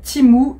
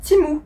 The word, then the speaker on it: Temu: il m'avait dit que ça se prononce c'est timou et pas temu il y en a